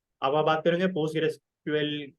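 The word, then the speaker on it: PostgreSQL: Third third party में कहीं भी आप रिटर्न लिख रहे हो तो पोस्टग्रेसक्यूएल पूरा लिखेगा। अच्छा, व्हाट इज पोस्टग्रेसक्यूएल? अब pronounced as post grace QL.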